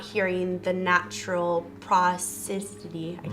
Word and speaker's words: prosody: So the way I've always sort of pronounced it is prosody.